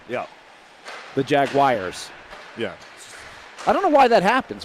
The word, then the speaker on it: Jaguars: say it properly well there's no wire you don't say wire it's Jaguar they're Jaguars Jag Jaguars